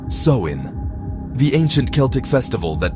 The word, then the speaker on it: Samhain: It was called Zamhine, pronounced Soin, the ancient Celtic festival